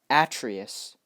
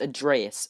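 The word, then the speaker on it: Atreus: old Kratos and his son a dress not a Trias people keep saying a Trias but in the game it's pronounced ad Reyes okay so his son add Reyes basically what they're trying to do is they're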